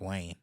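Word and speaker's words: Wyne: why I mean it's it's spelled like wine yeah but it's pronounced Wayne oh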